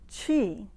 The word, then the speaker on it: qi: the word qigong means qi the first part of the word spell q-i and pronounced as if you were going to say cheese chi means breath but